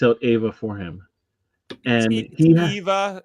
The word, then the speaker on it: Eva: uh you and Foster keep saying Ava and it keeps spelling it Ava and somebody somebody came by a video and said I like your video but you say her name weird and so I just it's Eva.